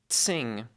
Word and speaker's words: Tsing: Tsing has a bit of a T sound at the beginning of it. Tsing.